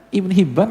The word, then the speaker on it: Ibnu Hibban: Nggak ada titik. Bacanya Ibnu Hibban, Hayyan sama. Nah, Al-Imam Anbari mengatakan Ibnu Hibban.